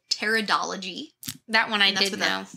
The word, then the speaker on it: pteridology: of ferns is called pteridology that one I didn't that's with a silent P kind of like par pteridology in Victorian times you